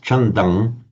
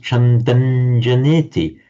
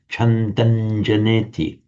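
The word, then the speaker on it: chandaṃ janeti: On its own, it would be pronounced Chandang, but with the following J, as I say, it's pronounced Chandanjaneti. You still write it with a subdotted M, but you pronounce it as Chandanjaneti.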